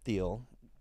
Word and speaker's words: Thiel: Peter, someone named rhymes with Eater Thiel, rhymes with.